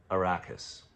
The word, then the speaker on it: Arrakis: his place, the planet Arrakis. 3 syllables, beginning with A, just like Amity.